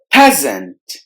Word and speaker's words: peasant: the end is silent peasant peasant the letter s in the middle must be replaced with the z sound peasant privilege privilege pray